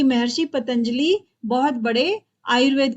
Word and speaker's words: पतंजलि: और ये सुनने में आता है की महर्षि पतंजलि बहुत बड़े आयुर्वेद के जानकर भी द बहुत